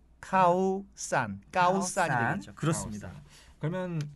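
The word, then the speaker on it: ข้าวสาร: 어서 얘기라면 알아 듣습니다 서 카오산 이 아니라 정식 발음은 카우 싼 까오 싸라 앉아 그렇습니다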